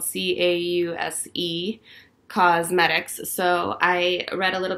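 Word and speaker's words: Causemetics: Okay, so this is by Thrive Cosmetics, and Cos is spelled C-A-U-S-E. Cosmetics.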